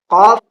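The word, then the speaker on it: ك: बाद आता है कफ काफ और उसके बाद आता है काफ इन दोनों के दरमियान बड़ा फर्क है कफ ये मुंह भर कर बोला जाता है और पुर बोला जाता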